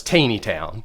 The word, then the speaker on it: Taneytown: 20 towns geographically yeah first of all it's Taneytown is it really it's it's Taneytown have we all been saying it wrong this whole time I say Tony town so yeah I say